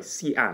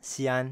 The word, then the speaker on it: Xi'an: Is the proper pronunciation. 对, Xi'an. Yeah, that's like the first story you told me about, no? Xi'an.